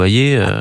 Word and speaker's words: Hayer: que Valérie ailleurs ou Ayé. Après, si on part du principe que... Vous avez dit que ça s'écrit H-A-Y-E-R, mais ça se prononce Ayé.